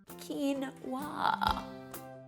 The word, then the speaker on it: quinoa: quinoa you'll now know how because it's written phonetically on the package quinoa it's safe to say when it comes to